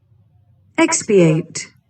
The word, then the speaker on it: expiate: Pronunciation देख लेते हैं इसका। expiate, एक्सपिएट, एक्स या ई, एक्स को प्रोनाउंस करें,